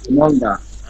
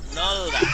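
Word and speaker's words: 넓다: ন নলদা। গুড। না, কি? নলদা। নলদা। নলদা। নলদা অর্থ কি? প্রশস্ত। নলদা অর্থ কি? প্রশস্ত। নলদা। এই যে রিউল আর বিয়োগ আছে, ঠিক আছে, এখানে বিয়োগের উচ্চারণটা হবে না।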